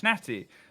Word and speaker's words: Schnatty: It's been quickly pointed out to me that I've been pronouncing the name wrong. It's Schnatty.